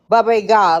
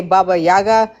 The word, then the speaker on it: Baba Yaga: My parents always said baba ga like they pronounce it totally differently. Um here people say baba yaga but they always said baba.